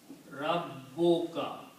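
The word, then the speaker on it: رَبُّكَ: So if I combine Rabbun and Ka, by the combination this will become Rabbuka. What happens when we combine? One Dhamma is not pronounced. So Rabbun will become Rabbu and Ka.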